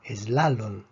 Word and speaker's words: slalom: Esta palabra se pronuncia slalom. Termina en N, por lo tanto, la fuerza está en la penúltima sílaba.